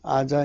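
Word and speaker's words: עזה: 가자 로 번역돼 있는데 가사로 걸려 땐 것이 오는 아자 입니다 아자 r 발음은 아자 입니다 아자 이아 자에 뜻은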